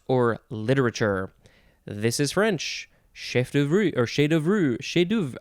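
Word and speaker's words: chef-d'œuvre: Okay, next we have, could pronounce this a couple ways, chef d'oeuvre or chef d'oeuvre. Chef d'oeuvre? That sounds a little bit more American. Chef d'oeuvre seems more authentically French.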